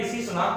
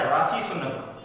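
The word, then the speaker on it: Rishi Sunak: लेकिन वहां पर भी इनसे एक गड़बड़ ये हुई कि उन्होंने ऋषि सुनक को बुलाया राशि सुनक। क्या बुलाया? राशि सुनक उनको बुलाया।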